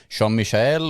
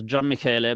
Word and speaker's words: Gian Michele: Your name is Jean-Michel, or how do you say it? You're very, very close, Gian Michele, but really nobody Okay.